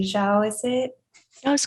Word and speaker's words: Zhao: Hai claims it's confirmed knowledge that Feng's new love interest, and forgive me if I do not pronounce her name correctly, Zhao, is it?